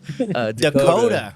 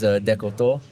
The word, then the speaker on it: Descoteaux: Dakota. Yeah, around here, Dakota, the actual pronunciation's Descoteaux. Descoteaux? Yeah, give us a little Canadian. French. Really?